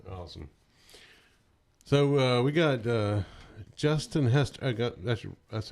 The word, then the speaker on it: Hester: So we got Justin Hester. That's how I'm pronouncing it right. Justin Hester. Justin Hester. Yeah, Hester.